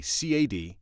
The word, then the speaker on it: CAD: one this is the CA D CAD audio I say cat I think they pronounce it C ad the C ad audio